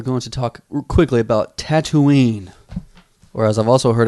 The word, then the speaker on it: Tatooine: So, today we are going to talk quickly about Tatooine, or as I've also heard it pronounced, Tatooine.